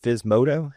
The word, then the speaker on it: Physmodo: FS modto is that how you pronounce it?